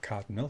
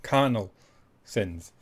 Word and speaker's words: Carnal Sins: Not Cardinal, as I keep mispronouncing it, but Carnal Sins.